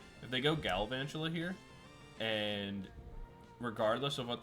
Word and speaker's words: Galvantula: where if they evolve into Galvantula here, let's pronounce it correctly, if they go Galvantula here, and regardless of what they attack me